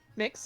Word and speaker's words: Mx: I think the correct term is like MX for like people who don't want to go by Mr. or Miss. Mix, yeah. Wow, this is the best. This breeze feels great. I never thought to pronounce it as mix, and that's like that's